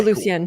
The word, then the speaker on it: DeLucien: It's DeLucien, right? Am I saying it correctly? Okay, DeLucien.